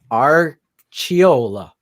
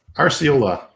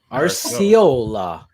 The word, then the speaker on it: Arciola: Archiola. Nope. That's how you say it in Italy, but not here. Sicilian. How do you say it? Arciola. Arciola. Like RC Cola, Pepsi Cola, Coca Cola.